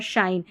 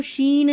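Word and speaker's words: shine: एसएच वाली शिप shop शीप और शाइन। यहां पर देखिए ये दोनों स्पेलिंग्स है। इसको शिप पढ़ेंगे। इसको शीप पढ़ेंगे। उच्चारण में फर्क है। एक में छोटी एक में बड़ी ई। इसको शीन नहीं पढ़ना है।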